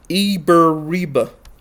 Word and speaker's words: Abiriba: Abiriba, pronounced Eberiba.